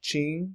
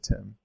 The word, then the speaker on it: TIM: with an M also the cell phone company Ching would best be spelled in English like this Jean and definitely not pronounce like the name Tim so don't say Tim last for I n we have the word